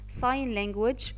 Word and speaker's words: sign: sign language اللي هي لغة الإشارة، حرف الجي silent مش بننطقه.